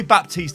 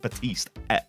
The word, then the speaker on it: Baptiste: wild lights caught now I'll just go probably Baptiste I'll say a lot because I'm an idiot and I'm from England but I'm pretty sure it's supposed to be pronounced but East anyway I digress ladies